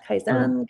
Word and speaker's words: Kaizen: Yeah, Kaizen Kaizen. Welcome to the podcast. So tell us a bit more about you, what you do. Oh, thank you. Thank you for having me. Uh Kaizen Education Services was started around I think about